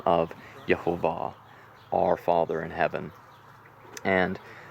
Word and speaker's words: Jehovah: schwa Holum and comets you put it all together and the correct pronunciation is Jehovah and it was Yahveh